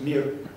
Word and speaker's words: Mir: the Higher School of Economics, and it is Mir, or something like that, the Mir Publishing Company. Yes. Tell me how it really is pronounced. Mir.